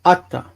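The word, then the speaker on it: אַתָּה: But again, the end word is not ata, but atta. Because of the stress. Remember, at the end of the sentence, ata becomes atta.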